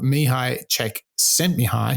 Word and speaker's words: Csikszentmihalyi: this opportunity to delve into the work of me hi check sent me high how's that for a pronunciation he's um really the pioneer of this